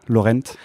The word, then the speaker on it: Lorente: Je prononce bien, Laurent. Ouais, Laurente, Laurenté, on sait pas. Okay. Je t'avoue, même dans ma famille, on sait pas. Ok, d'accord. Enfin, c'est Laurenté, normalement, c'est italien. C'est Laurenté, c'est d'origine italienne.